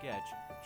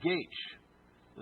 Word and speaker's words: Goetsch: to pronounce our name Goetsch. The German pronunciation of my name is Goetsch. The G was a J sound, the OE was an A sound.